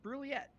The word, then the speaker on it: Brouillette: just waiting oh good I had to Google brouillette and it's pronounced brilliette Sebastian when you meet